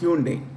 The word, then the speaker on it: Hyundai: I want to pick hyai company hunai it's pronounced Hyundai okay Hyundai is the world's third largest automobile